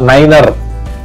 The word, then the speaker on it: niner: in this case you ought to pronounce like nova niner to neutrons